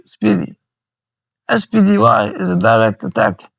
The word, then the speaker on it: SPDY: Engineers at Google start working on an experimental protocol they call SPDY, pronounced Speedy.